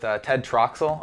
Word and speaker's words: Ted Troxell: all right we're here today with Ted Troxel over at linear labs so I pronounced your name right yeah yeah perfect all